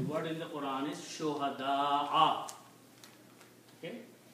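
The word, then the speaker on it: شهداء: So the word in the Quran is shuhada'a. Okay? And also because this is Hamza, the alif before that should be read with the long stretching, mad. Okay? So you should pronounce shuhada'a.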